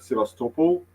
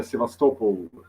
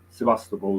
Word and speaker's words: Sevastopol: So I was born in Sevastopol. So we say Sevastopol, uh, which means the third syllable is stressed, in difference to Sevastopol, which is usually said in English.